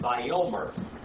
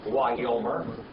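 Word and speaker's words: וַיֹּאמֶר: You're going to run into this word a lot, so you need to learn how to say this one. Vayomer. Or Wayomer. Either one. We're just going to say Vayomer.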